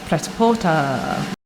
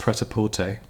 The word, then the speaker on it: Prêt-à-Porter: My number 3 is Prêt-à-Porter. Is it Prêt-à-Porter? We'll look it up. Prêt-à-porter would be the typical French pronunciation, but it'd be fine in English or American to say Prêt-à-porter.